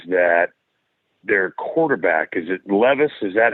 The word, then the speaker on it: Levis: Okay, so the other thing that scares me is that their quarterback, is it Levis?